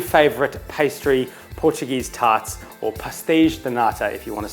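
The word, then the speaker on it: pastéis de nata: cooking my new favorite pastry portuguese tarts or pastiche donata if you want to say it correctly they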